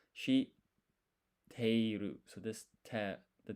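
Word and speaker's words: 知っている: So this half size tsu, you don't pronounce it. It's like a pause. So it's shi teiru.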